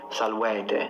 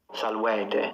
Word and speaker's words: salvete: That's not how I pronounce them. I closed them. So I went E, O, U for the long ones. You don't need to close them. You can open them.